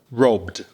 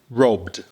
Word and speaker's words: robbed: And then you've got the E d, which is a d after a voiced consonant. So, listen. Robbed. Say it with me. Robbed.